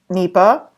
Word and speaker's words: NEPA: they could regulate their own basically so under NEPA which is how it's pronounced there was a prescription for something called